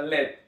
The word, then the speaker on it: lead: a ir con plomo plomo en inglés como ya sabemos se pronuncia led y nuestro ejemplo dice